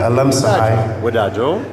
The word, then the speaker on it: አለምፀሃይ ወዳጆ: You can say Alam. Alam. Sahai. Sahai. Alam Sahai. Wadajo. Alam Sahai Wadajo. Yetibab. Yetibab. Yetibab. Madrak. Oh my God. Little by little. Great. Whereas Alam Sahai Wadajo, Art Floor celebrates its